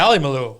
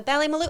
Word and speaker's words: Ballymaloe: Ballymaloe. Yeah, the Ballymaloe, and you said it right.